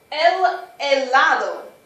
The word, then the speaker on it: helado: El helado. Notice I'm not pronouncing the H. We don't pronounce H's, just like in hola.